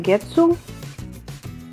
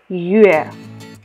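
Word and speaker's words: 月: Читается он Гетсу. Тут у нас Гетсу это хираганы написано, тут само произношение. По-китайски это будет звучать Юэ.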